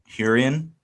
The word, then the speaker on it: Hurrian: Hurrian.